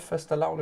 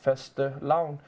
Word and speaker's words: fastelavn: known Nordic holiday of fastelavn, pronounced something like fastelavn, celebrated in February or early March across Denmark, Finland, Iceland, Norway, and Sweden.